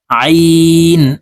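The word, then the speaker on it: ع: জ আলিফ জবর জ আইন আলিফ জবর আ প্রিয় দর্শক এই আইনকে হলকের মধ্যখান থেকে চাপ দিয়ে উচ্চারণ করব কারণ আইনের মাখরাজ হলকের মধ্যখান থেকে হবে আইন আলিফ জবর আ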